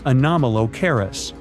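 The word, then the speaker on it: Anomalocaris: The name is a bit tricky to pronounce, so I'm not going to. Okay. Okay. It's anomalis, but it just literally means unusual shrimp.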